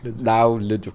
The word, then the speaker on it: Leduc: Okay, I'm gonna pronounce it properly now. Yeah. Leduc.